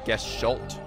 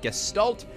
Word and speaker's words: Gestalt: Apparently uh it is because this is a German word. It's actually pronounced gestalt, not guest.